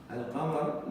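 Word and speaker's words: القمر: Just you have to say Ash-Shams, Lam is not pronounced. Al-Qamar, Lam is pronounced.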